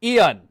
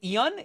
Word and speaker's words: Ian: Repeat after me, guys. Ian. Okay. It's not Ian. It's not a twocllable thing. It's Ian. I know how to say my name.